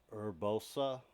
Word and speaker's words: Urbosa: You got Urbosa, that's how you say it.